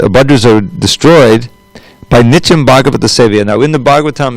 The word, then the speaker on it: Bhagavat: There's a Bhagavatam and the Mahabhagavat, the person Bhagavat, and the book Bhagavat. Bhagavat means in relationship to Bhagavan. You see the difference. Those long and short A's make all the difference.